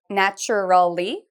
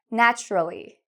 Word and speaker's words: naturally: Rất nhiều sinh viên sẽ nói điều này như: "nat-ur-all-y", nhưng chúng tôi không phát âm theo cách đó. Nghe cẩn thận để làm thế nào tôi nói nó. "Nat-ral-ly", "tự nhiên", "tự nhiên", "nat-ral-ly".